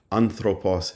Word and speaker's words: ἄνθρωπος: The third syllable from the end, anthropos, has the accent, which shows you that